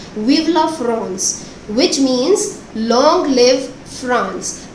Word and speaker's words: Vive la France: Actually, students, this is a French phrase and it is pronounced like this only, Vive la France, which means long live France.